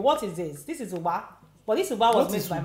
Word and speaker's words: Ugba: Ugba.